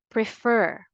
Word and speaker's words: prefer: a greater force or you put the stress always on the second syllable again say it with me refer prefer now it's time for